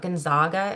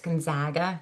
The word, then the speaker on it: Gonzaga: It's not Gonzaga, it's Gonzaga. It's a nice Midwestern a there.